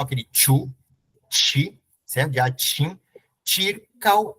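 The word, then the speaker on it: ĉirkaŭ: Circal, e esse U aqui, com a braquia, tá vendo aqui? O U, você realiza esse som junto com o A. Então, são duas sílabas só. Circal, tá bom?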